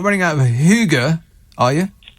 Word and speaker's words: hygge: not running out of hygge are you oh that's danish no i think it's swedish and it's pronounced hygge you're getting everything wrong